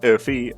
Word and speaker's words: Oomfie: It is pronounced Oomfie, but from now on, because that's annoying to say, we're going to call him Oomfie Heathcliff.